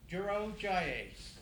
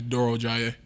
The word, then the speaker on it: Durojaiye: we have defensive lineman Duro jayes I get it yeah all right good questions